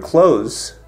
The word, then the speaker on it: clothes: just a side note in the word close most native speakers don't actually pronounce the th sound this happens in the